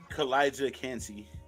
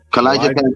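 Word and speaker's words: Calijah Kancey: And then how do you pronounce this guy's name? Who? Kalijah Cansey. Kalijah Cansey, yeah.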